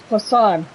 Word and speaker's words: Poisson: I would have been calling it poison for all this time. It's Poisson.